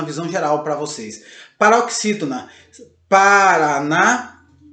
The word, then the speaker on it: Paraná: digo a palavra Paraná, a sílaba mais forte que nós falamos aí é o RA, o último RA, Paraná, o NA, Paraná, e o acento agudo no A, ok?